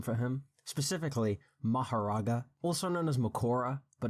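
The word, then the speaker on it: Mahoraga: Alright, so since Seth is pushing 50 and is losing his ability to speak properly, he asked me to pronounce a name for him, specifically Maharaga, also known as Makora, but no one calls him that.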